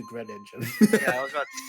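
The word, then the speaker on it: Greninja: You mean good I mean, it's already bad to say Green Ninja as opposed to Gren Ninja.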